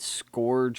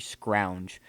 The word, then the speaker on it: Scrounge: saying names wrong yeah instead of it scourge or whatever else i said in the video it's actually scrounge all right that is